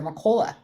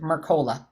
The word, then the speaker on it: Mercola: black seed oil from Dr mccola I I said that wrong I butchered Mercola Mercola yeah yes he had a